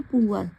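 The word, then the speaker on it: poor: तो इसे क्या पढ़ेंगे, पुअर पीपल, क्योंकि OOR को पुअर ऊअर पढ़ते हैं, क्या पढ़ते हैं, ऊअर।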